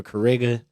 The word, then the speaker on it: XKariga: The X is silent for Kariga.